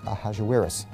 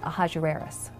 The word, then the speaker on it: Ahasuerus: Now, that was hard for the Jews to pronounce, so they said Ahasuerus. We know him as Ahasuerus.